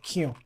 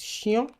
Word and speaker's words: chien: In native French words, C H, C H, sounds like sh. Sh. For example, chien. Chien. Chou. Chou. You won't say cou or quiang. It's chien. Chou.